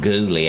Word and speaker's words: Gully: We have a cousin in South Dakota, Jack Gully. They pronounce it Ghouly out there.